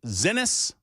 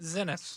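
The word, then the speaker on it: Xinis: X I N I S. The X is going to be present like a Z at that point, right? Zenus.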